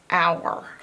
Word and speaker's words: hour: But you can't hear the H in hour. So it's hour, hour, hour. This is the part you gotta learn by heart. H-O-U is ow, ow, and then a normal sound.